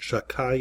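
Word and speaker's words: Shaddai: shakai Shin doad yud we pronounce it shakai in deference to not using God's name unnecessarily and the sages had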